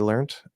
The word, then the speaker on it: learned: the T spelling um l-e-a-r-n-e-d and I think British people still say learned some Americans might say learned um but generally Americans say learned with a D sound um anyway the problem